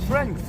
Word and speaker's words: strength: So you said strength, right? You say strength. strings, yeah. Huh? Strength. Strengths. Ah, strength. Yeah. Strength in one syllable, but Yeah. if you speak in Japanese style, we call strength.